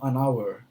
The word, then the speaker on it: an hour: na sonor E aí o h ele não tem o som então anour unhonest certo eh isso